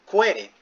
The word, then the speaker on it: Quelle: Quere, ¿cierto? Se escribe Quelle, eso es alemán, pero es Quere, ¿sí?